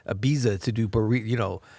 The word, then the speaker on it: Ibiza: he goes to like Ibiza to do pari you know there's a piece of barista yeah I think I just said because it rhymes yeah Ibiza per barista exactly all right well